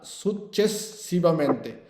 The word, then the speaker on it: successivamente: জসিম ভাই বলেন per favore, Selim ভাই বলেন per favore, সুচেসিভামেন্তে কথাটা মানে কি, পর্যায়ক্রমে, ঠিক আছে, বলেন সুচেসিভামেন্তে, উচ্চারণ করেন Successivamente. না, সুচেসিভামেন্তে।